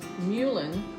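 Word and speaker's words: mullein: Well, when I had the flu a couple of months ago, Mulin, that's the way you pronounce it, my niece told me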